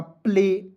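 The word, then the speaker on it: play: तो ए वाई जब भी रहेगा तो उसका उच्चारण एक एक के रूप में करेंगे। तो क्या हो जाएगा? प्ले होगा ना?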